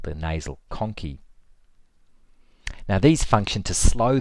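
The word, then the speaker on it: conchae: I'll spell that. C O N C H A E. The nasal conci. So these cartilagynous plates called the nasal conci.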